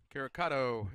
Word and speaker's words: Caricato: Caricato is the pronunciation on the guide here from Lenoir-Rhyne. Sal Caricato.